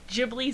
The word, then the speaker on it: Ghibli: I always say it wrong. Okay, Ghibli sounds like giblets.